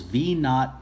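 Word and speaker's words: v₀: The first equation is V equals V naught plus AT. When you see this symbol here, this symbol is pronounced V naught.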